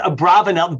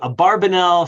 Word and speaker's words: Abravanel: pronounced Abravanel. By the way, there's different ways to some traditions will do it Abarbanel, some will do it Abravanel, but go ahead.